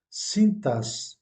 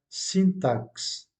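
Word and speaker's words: sintaxe: nt à xx e mais vous le prononcer comme vous prononcez le x comme s'il s'agissait de deux aces cintas et non pas syntax prononciation correcte cintas un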